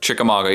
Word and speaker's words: Chickamauga: I also really like, I hope I can pronounce it, Chickamauga. Yep, that's right. Any idea if I'm pronouncing that one correctly? Chickamauga, you said it correctly.